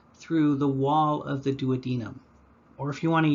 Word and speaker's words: duodenum: organ you're looking at the duodenum or duodenum if you want to use the british pronunciation and this shows us